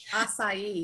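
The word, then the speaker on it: açaí: Acai.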